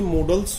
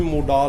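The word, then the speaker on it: modal: फिर जो आपके मॉडल्स होते हैं, इनको कोई मोडाल बोलता है, कोई कुछ बोलता है, इनकी रियल प्रोनाउंसिएशन कंफ्यूज होने की जरूरत नहीं है। इसको मॉडल बोल जाते हैं और मॉडल ही होता है।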